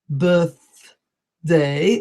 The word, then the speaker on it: birthday: The third mistake is the TH, particularly in birthday, birthday, or for example, bathroom, bathroom.